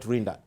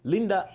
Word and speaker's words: Linda: to us hello oh Linda it's not rinda Linda good morning morning to